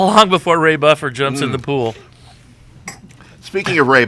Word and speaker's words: Ray Buffer: He kept calling me Ray Duffer. And do you get why he was calling me Ray Duffer instead of Ray Buffer?